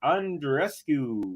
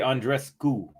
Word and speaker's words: Andreescu: break it is for Bianca and Rescue I should say Andres School not Q that's what someone told me recently Manor asking did